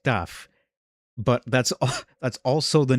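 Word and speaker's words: ταυ: And it's also funny that in modern Greek, the name of it is pronounced taf, but that's also the name of the letter tau in modern Hebrew.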